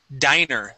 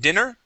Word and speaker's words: diner: hurried good good and this word here is Diner instead of dinner diner diner diner excellent